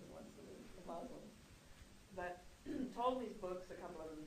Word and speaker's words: Ptolemy: And those 5 aspects, conjunction, opposition, trine, square, and sextile, are called the Ptolemaic aspects of Claudius Ptolemy, spelled with a P. P-T-O-L-E-M-Y.